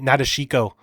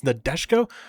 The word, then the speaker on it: Nadeshiko: I've been calling it Nadeshiko. I've been pronouncing it wrong this whole time. It's Nadeshiko.